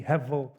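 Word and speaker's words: הבל: word vanity ESV is hebble and in Jewish it's pronounced the the B is almost like a V heav he and so it's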